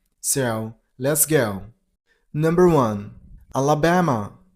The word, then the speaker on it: Alabama: Number one, Alabama. You got to stress on the third syllable. Ba. Alababama. Alabama.